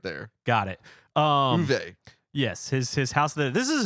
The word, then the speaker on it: Uwe: By the way, pronounce it. Is it Uwe? Uwe.